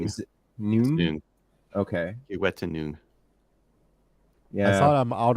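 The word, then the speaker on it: Kiwetinoong: Kiwetanug. Tanug. Is it Noog or is it Noon? Noon. Is it Noon? Noon. Okay. Kiwetanug.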